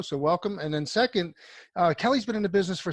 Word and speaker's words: Kele: acquiring so our first guest is the CEO kelly richard campbell and some people call Kili but it's actually pronounced Kelly Richard welcome to the show and